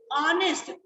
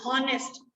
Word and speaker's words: honest: Honest नहीं हम बोलते, H से शुरू हो रहा है, but हम honest नहीं बोलते। तभी मैंने बोला अगर आपकी प्रोनाउंसिएशन ठीक होगी तभी आप ये सही आर्टिकल फिल कर पाओगे। सो इट इज ऑनेस्ट, नॉट हॉनेस्ट। ठीक है, ऑ की साउंड